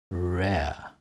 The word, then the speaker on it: rare: are a r e rare air so today we've looked at a as in cat are as in arm and air as in rare how do you pronounce